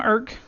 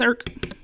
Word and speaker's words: Erc: And that one, as you'll see, not that I have different names everywhere, but I'm Irk. If you wondered how to pronounce it, yes, it's ERC. It's Irk.